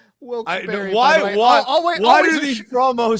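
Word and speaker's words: Wilkes-Barre: If it wasn't for these people in Wilsbar, Pennsylvania, we wouldn't be getting a paycheck this week. Sir, I love this town so much. I know it's pronounced Wilsberry.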